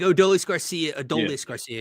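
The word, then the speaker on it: Adolis García: ideally, Adolis Garcia would be your cleanup, like Adolis Garcia, excuse me, that's how he pronounces it.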